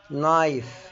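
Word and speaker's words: knife: يغلف برضو حرف الك لو ج وراه حرف الان الك ما بتنطق زي كلمه ن ن يعني يعرف نايف يعني سكين ني يعني ركبه برض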